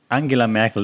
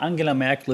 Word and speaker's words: Angela Merkel: the era merkel merkel an angela merkel that's how you pronounce her name by the way not angela angie merkel angela merkel the era angela merkel is over now she's